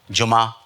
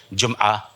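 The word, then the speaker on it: جمعہ: तो 3 चीज़ें हमने आपके सामने पेश की, दफ़ा, किला, जुमा, ये सब गलत है, ये प्रोनाउंसिएशन ही नहीं है। इसका सही तलफ़ुज़ है, सही, मैं सही नहीं कह रहा हूँ, सही तलफ़ुज़ है जुमआ, क़िलआ, दफ़आ।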